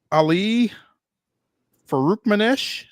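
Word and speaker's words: Ali Farokhmanesh: back pretty quick um elevated an assistant um Ali Faruk Manesh is that how you pronounce that yeah yeah did I get it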